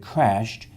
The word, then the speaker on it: crashed: In this case, in the word crashed, ed is saying t, so the e will be silent, which means there's only one vowel sound, which means there's only one syllable.